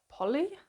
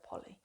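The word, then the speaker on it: Polley: of memory um by Sarah Polly I think is how you say it I was saying Sarah Poley but I've heard a lot of people say Sarah Polly so I had Jill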